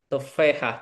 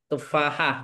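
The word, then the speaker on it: تفاحة: Tapi orang Arab Apel. itu bilang tufehah. Jadi A itu Wah, kayak jadi E ya. Kayak Jamil bacanya Gamil kayak jadi E gitu. Tufahah.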